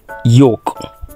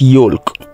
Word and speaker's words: yolk: TOA it is Tower this is Yol not yolk this is devour not